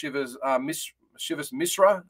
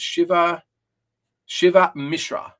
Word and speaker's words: Shiva Misra: He's 11-2, coming off a pretty good knockout in the last fight against Shivas Misra. Hang on, I'll just pronounce that right. How do you pronounce it? Shiva Misra is how you pronounce it.